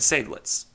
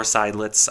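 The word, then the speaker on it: Seydlitz: follow-on designs multica and sadlets or sidelits i've heard it pronounced either way but i tend to default to sablets it wouldn't be until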